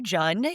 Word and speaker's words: Jun: Uh my name is Jun. It rhymes with fun because I'm a person, not a month, people.